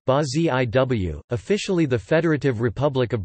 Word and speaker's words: Brasil: Brazil Portuguese, Brazil Portuguese pronunciation, Ba-Ziw, officially the Federative Republic of Brazil Portuguese, República